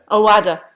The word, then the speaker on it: Owada: Owada.